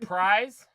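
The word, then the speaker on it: Pryes: I could be wrong how do you pronounce it is that prize p-r-y-e-s yeah yeah surprise yeah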